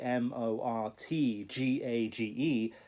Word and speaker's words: mortgage: there is a t m o r t g a g e it's pronounced mortgage as though the t were not there that's very unusual for